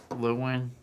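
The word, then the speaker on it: Llewelyn: Lewin.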